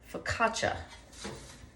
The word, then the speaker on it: focaccia: ton of different ways and um it's actually pronounced focaccia so in case you didn't know that because